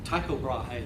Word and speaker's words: Tycho Brahe: Tycho Brahe, that's how I say it.